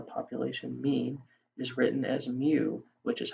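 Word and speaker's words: μ: the mean the population mean is written as mu which is how you pronounce this little u looking thing whereas for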